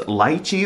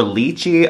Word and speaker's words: lychee: them, they had Rose Lychee or Lychee. Apparently, that's a hot topic on how you pronounce it, but apparently both pronunciations are acceptable, by the way, so I'll intermix both pronunciations in this video.